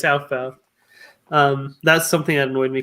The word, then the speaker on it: Aufbau: My chemistry teacher in high school always called it Aufbau principle, or no, off. What'd you call it? She called it Aufbau or something, but it's Aufbau.